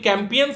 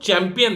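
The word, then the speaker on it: Campion: कि 8वीं तक इन्होंने एक कैंपियन स्कूल है, इट्स नॉट चैंपियन, ध्यान दीजिएगा, कोई स्पेलिंग मिस्टेक नहीं है, ये नाम ही कैंपियन है।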